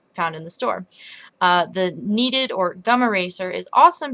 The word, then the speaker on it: kneaded: And then the one that everyone's been asking about is my kneaded eraser, which is spelled K-N-E-A-D-E-D, like you knead bread.